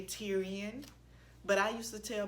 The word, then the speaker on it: Tyrion: But I used to tell people, if you can say Presbyterian, you can say Tyrion. No, it's not spelled the same way, but if you can say Presbyterian, you can say Tyrion, okay?